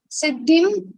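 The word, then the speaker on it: सिद्धिम्: Siddhim, we have sa, choti matra, and then we have half da and tha.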